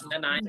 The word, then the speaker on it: Nanaimo: Is it Nanaimo or Yes, Nanaimo? Nanaimo. All these years, I still don't know how to pronounce this.